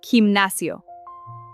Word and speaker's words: gimnasio: And here, gimnasio. It sounds exactly like a J. Pronounced in Spanish accent, himnasio.